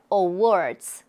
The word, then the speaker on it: awards: 왜 이렇게 강조를 했냐면 award 할 때요 단어만 따로 발음하면가 들려요 awards 근데 강세가 뒤에 있기 때문에 앞에 어가 잘 소리가 크게 안나요 근데 다 다른 단어랑